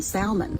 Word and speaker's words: salmon: a bonus you know they're the wrong one if they pronounce the L in Salmon cuz it's salmon in